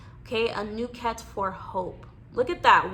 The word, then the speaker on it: Anuket: Okay, and your Egyptian god for the week is, how do we pronounce her name? Anuket. Okay, Anuket for hope.